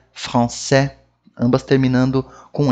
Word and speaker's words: français: O S não se pronuncia em francês. Esse é um que causa bastante confusão. Porque a gente vê ele lá, a gente quer falar ele. Mas em francês não fala.